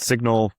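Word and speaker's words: Cygnal: We have a guardrail system called Signal. It's spelled CYG, like a baby swan signal, right?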